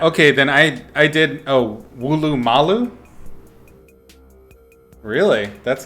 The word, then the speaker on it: Woolloomooloo: Oh, Wooloomalu? Really? That's not how you spelled it originally, or is it just pronounced that way?